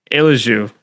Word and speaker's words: Eljou: My name is Amir Nirani and today I'm joined by Eliju. Is that how you say it? Eliju.